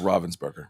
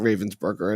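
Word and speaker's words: Ravensburger: Oh, but it's pronounced Robvensburgger, by the way. I just found that out this weekend. It is, but I still call it Ravensburgger and I'm you know, I guess cuz it's the city in Germany, right?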